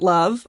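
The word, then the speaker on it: LOVB: Yeah, we aim to be a little bit different at Love or League One volleyball pronounced love.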